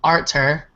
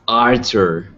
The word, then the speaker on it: Artur: right guys thank you arter art said your name wrong arter it's okay real quick is it Arthur or Arthur it's Arthur yeah but I could have sworn a while